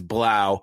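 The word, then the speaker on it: Blough: is the world-famous David blow although I will call that real right the correct pronunciation of his name is Blau he is a he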